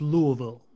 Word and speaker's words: Louisville: actually pronounced it's pronounced Louisville you just have to use as least syllables as possible put as little effort into saying it as possible it's pretty crazy because